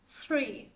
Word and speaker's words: three: Số 3 mình sẽ đọc là three. Cái chữ thở, three, three, three, ok.